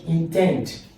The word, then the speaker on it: intend: Now, keeping that in mind, check intend. Intend. The same, in fact, it has the same sound structure. Intend, import, the same, both of them are on the second.